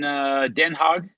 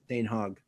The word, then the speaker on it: Den Haag: Den Haag. Yeah, I can't remember which one that was. We're so American the way we pronounce that. I think it's Den Haag.